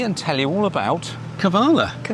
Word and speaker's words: Kavala: It's called uh Chatau Specialty Coffee in the middle of uh Cabala. Kabala Kavala. That's what she said. Is that what she said? Kabala. Pronounced Kavala. Yeah, Kavala.